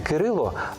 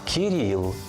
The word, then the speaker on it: Кирило: згідно з російською вимовою не Микита а нікита не Кирило а Кіріл не Данило А даніла чи Даніїл без сумніву батьки мають